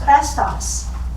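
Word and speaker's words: Chrestus: Rome and it's about someone named which is pronounced crestos and they're going crazy and cresas means is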